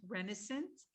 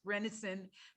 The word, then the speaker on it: Rennison: move on next to brent renaissance uh i'm sorry i mispronounced your name brent rennison brent is going to